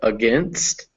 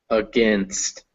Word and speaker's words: against: So when syllables are unstressed in English, they turn into a small vowel called a schwa, the sound. So when you say words like against, that first vowel is against, not against, against.